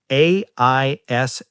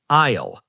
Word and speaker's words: aisle: Yes, it is spelled A-I-S-L-E. Aisle. The letter S is completely silent. We do not say the S. We just say aisle.